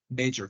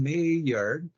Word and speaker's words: major: is your major major don't confuse the pronunciation of the word major major which means specialization and mayor mayor which is uncommon good that is important to understand because that and you are different okay major mayor okay